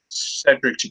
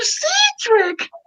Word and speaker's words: Cedric: Sophia didn't really understand how to like pronounce Cedric's name correctly. All she said was Mr. Cedric. It's Cedric.